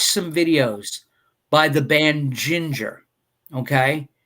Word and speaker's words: Jinjer: some amazing groove metal, the band Ginger, it's spelled Jinjer.